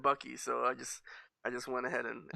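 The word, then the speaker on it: Buc-ee's: How do you pronounce it incorrectly? Some people call it Busey's. I don't know. Busey? But it's definitely Bucky's. See? Definitely Bucky's.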